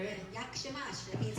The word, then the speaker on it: Jak się masz: Jak się masz? Yakshimas.